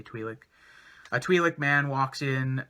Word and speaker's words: Twi'lek: At that point, a Twi'lek, or Twi'lek, however you want to pronounce it. I usually say Twi'lek.